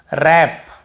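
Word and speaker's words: wrap: रोंग right वप वपर व को हम पढ़ ही नहीं रहे क्योंकि डब्ल्यू के साथ आर है तो केवल हम आर को पढ़ेंगे यानी कि डब्ल्यू को नहीं पढ़ना है।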